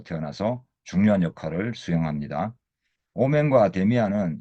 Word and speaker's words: Damien: 이 영화에서는 마지막에 잠깐 등장하지만 데미안은 DAMIEN으로 쓰는데 길들이다, 제압하다, 정복하다라는 뜻의 프랑스어권 이름인 다미앙의 영어식 발음이죠.